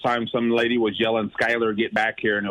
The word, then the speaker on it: Schuyler: Guys, here's Skylar.